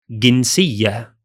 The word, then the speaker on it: جنسية: But in spoken Arabic, we usually pronounce the letter j as symbol g. So we say جنسية.